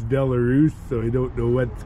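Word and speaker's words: Belarus: which is local but we always called them boleras but that's the way I've always heard it pronounced but the country for the name's sake the country is actually pronounced valus so I don't know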